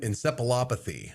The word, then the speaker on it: encephalopathy: Bovine spongiform encephalopathy. How did I do? You did pretty good. You know, the PH is sounded as an F, but that's okay.